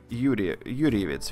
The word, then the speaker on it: Юрьевец: Я поехал в славный город Юрьевец, видимо, да, читается правильно.